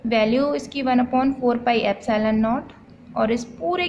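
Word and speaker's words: epsilon naught: इसको मैंने क्या बोला, प्रोनाउंस किया इसको मैंने एप्सिलॉन नॉट। एप्सिलॉन होता है ये ई टाइप जो है ग्रीक लेटर, और ये जो है इसको हम लोग नॉट बोलते हैं, एप्सिलॉन नॉट। इसको प्रोनाउंस किया इस तरीके से।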